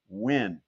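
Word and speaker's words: Nguyen: u yen um but it's pronounced quite simply win and that's basically what he did.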